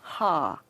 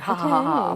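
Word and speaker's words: ห้า: 5555 because the number five and TI is pronounced ha oh really it's like haa 555 I know yeah that's very interesting I'm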